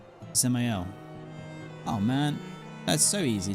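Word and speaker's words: Dzemael: So, I I've been pronouncing it uh Desamel, but you're saying I should say it Zel. Ziel. So, the D is silent. Ziel.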